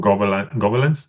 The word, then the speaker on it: Gobelins: I think French animation, I see like animation from Gobelins. You say it like that, right? Gobelins.